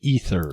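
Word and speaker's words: Aether: got ether snap Oh officially it's that's pronounced ether oh the AE is pronounced right right ether snap yeah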